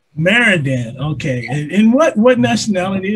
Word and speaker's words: Marrondan: it you know so what how do you pronounce your last name uh it's maradan maradan okay and what what nationality is that your